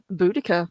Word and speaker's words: Boudica: So, 60 BC, we've got the red-headed Celtic queen Boudica, or Boadicea, whichever All way you want right. to pronounce it, leads a revolt.